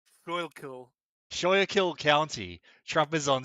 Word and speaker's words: Schuylkill: It's pronounced Schuylkill.